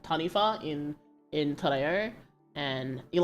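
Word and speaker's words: taniwha: like that they're called tanif so in in MDI the the W is pronounced as an F sound um so um it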